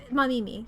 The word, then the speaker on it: Mamimi: I forgot how to say it. Mamimi. Yes, that's how you say their name.